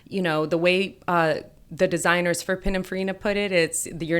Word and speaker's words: Pininfarina: How do I pronounce that? I can never say it. Pininfarina.